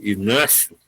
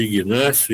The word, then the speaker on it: Inácio: além do dinheiro, que é pouco, porque os impostos vão comer a parte maior, esse jogador, esse Inácio, que insiste em chamá-lo de Ignácio, Inácio G é mudo, mas enfim, ele é